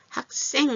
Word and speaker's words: 학생: 학생이에요인데 학생 이렇게 소리가 나죠? 이렇게 자음과 밑에 받침의 자음과 위의 자음 윽 하는 받침과 시옷이 만나면 이게 된 소리가 돼. 학생이에요. 이렇게 발음이 난다.